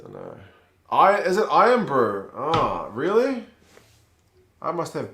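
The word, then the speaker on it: Irn-Bru: is it iron brew it's spell irn excuse me if it's pronounced iron brew unless this bottle cap has got wrong obviously bottle caps are probably not the most flawless kind of um information and it's literally pronounced like iron i've learned something today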